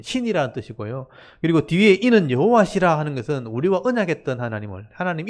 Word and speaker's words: 여호와: 그리고 뒤에 이는 여호와시라 하는 것은 우리와 언약했던 하나님 이름을 얘기하는 거예요. 여러분 하나님의 이름은 여호와입니다. 여호와. 여호와는 발음 때문에 우리 야훼라고 발음하기도 하지만 원래 하나님의 이름은 여호와입니다.